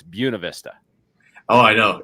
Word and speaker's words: Buena Vista: friends that ask me, is it Buena Vista or Buena Vista? And bring them back to this video and remind them that you've got to know it's Buena Vista.